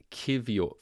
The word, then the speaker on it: Kiwior: Cheekster, it's pronounced Kiwior. Thank you so much. I would have definitely not pronounced it like Kiwior.